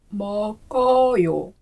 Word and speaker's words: 먹어요: One that I like to think of is a mug for that first syllable, because a mug is associated with eating and drinking.